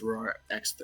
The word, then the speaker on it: Roar X3: Matthew was immune somehow is it Roar times three or just roar X3 it's Roar X3 you got to say it like that you know what does